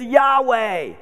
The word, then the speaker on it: Yahweh: but you might say the Hebrew pronunciation of the word is Yahweh no matter how you